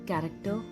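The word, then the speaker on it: character: much सच lunch bunch सीच की वो sound जो क की साउंड प्रोड्यूस करती है कैरेक्टर chemistry chemical chemotherapy coarse and choreography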